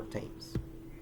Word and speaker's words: Thames: An exception to this case is thus of some words that are pronounced with a normal T, even though they are spelled with a th, as in Thomas, Teresa, or Thames.